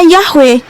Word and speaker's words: Yahweh: Ramaton itu kan bisa dibunyikan bahwa memang Bapak Yod Hefa itu bacanya Yahwe loh.